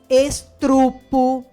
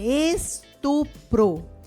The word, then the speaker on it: estupro: que vocês falam asterístico estrupo correto é estupro e aqui vocês vão